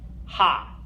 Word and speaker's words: H: go ah B say day a f g ha okay good all right so next group of